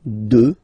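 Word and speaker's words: deux: Final X not pronounced, okay? 2.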